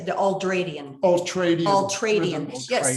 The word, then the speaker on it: ultradian: You go ahead and say the ultradian. Ultradian. Yes, spell it.